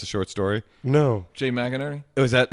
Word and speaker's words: Jay McInerney: Jay McInerney.